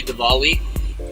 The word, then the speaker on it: Diwali: Happy Diwali, that's a W, not a V.